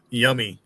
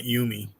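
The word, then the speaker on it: Yomi: Yummy is how you would pronounce it. Not yumi. It'd be y o m i.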